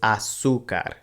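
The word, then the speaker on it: azúcar: le agregamos a succe the accent mark again tells us to put the stress over the seta ooh syllable so it's asuka and the same thing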